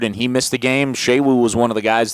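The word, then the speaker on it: Sewo: I tell you what, if they want Shewu, not Suwu.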